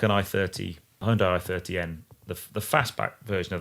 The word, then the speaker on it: Hyundai: is a superb car, but it's a Hyundai or Hyundai. That's another thing. The pronunciation you'll get lots of hate if you say that wrong, but I think it's Hyundai.